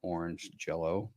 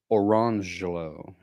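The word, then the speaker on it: Orangejello: jello and orange jello, but they were not pronounced lemon jello and orange jello. It was lemangelo and orangelo.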